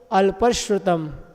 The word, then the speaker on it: अल्पश्रुतम: एक अल्प और श्रुतम लिखा ना, तो अपन को अल्पश्रुतम, ठीक है ना, मिला के पढ़ेंगे।